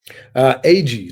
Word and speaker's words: Agee: Agee, like is it? I always tell people as if it's the two letters by themselves. Agee, that is so cool.